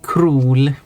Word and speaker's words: król: the English spelling, that imagine that the O with the accent above it is like 2 O's.